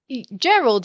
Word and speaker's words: Gerald: Gerald is that how you say his name Gerald yes the animal farmer yeah yes yes there